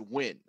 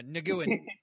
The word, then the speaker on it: Nguyen: Hey, it's a lot better than this, which I'm putting in chat, which is pronounced win. Yeah, Nguyen. Yeah, Nguyen. Nguyen, yeah. Vietnamese names are weird.